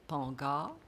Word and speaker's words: Pangar: Et nous nous sommes arrêtés sur une symbolique qui est un arbre, donc l'arbre de vie, et Pangar, il faut bien prononcer à la créole, ça veut dire faites attention, soyez attentifs.